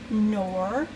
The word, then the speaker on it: Knorr: I use this, and what I'll do is I will put 2 of these in, 2 of these Oxo by Knorr, Knorr, pronounced Knorr, and this is what the box looks like.